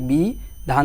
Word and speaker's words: বিধান: করতে আর বাকিটা তো আমাদের কোন পরিবর্তন নাই বি ধান দিয়ে দিলাম আর শেষে হসন্ত কেনে দিলাম দন্তন্য